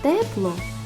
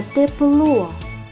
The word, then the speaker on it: тепло: скільки складів у словах тепло та тепло два склади який склад наголошений у слові тепло перший А у слові тепло другий у магазині тканин Мама